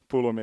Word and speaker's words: Pulumi: But if you heard it for the first time, then Pulumi is now the Finnish way of saying it.